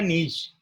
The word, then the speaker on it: niche: Step one is find out the niche. We pronounce it is niche, N-W-E-S-H, but the spelling is N-I-C-H-E.